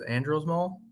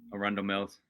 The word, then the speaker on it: Arundel Mills: Gunnar and I made our trip to I don't know how to pronounce it. It was Andros Mall? Arundel Mills.